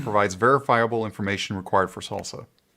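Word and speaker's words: SLSA: verifiable information required for salsa salsa i'm ready for chips that's how they say it is salsa yeah the the in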